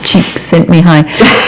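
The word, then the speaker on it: Csikszentmihalyi: um you've heard of it before haven't you cheeks sent me high as it were um so the the man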